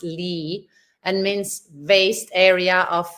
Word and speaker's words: lea: the Oxford dictionary that actually it's pronounced Lee and means vast area